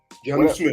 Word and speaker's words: Jonnu: How you pronounce it? Jonnu Smith.